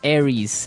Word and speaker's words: Aries: And so it's pronounced Aries.